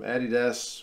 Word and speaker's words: Adidas: Some of them, even the New Zealand ones from Adidas, which is how we pronounce that, they're okay, but especially like the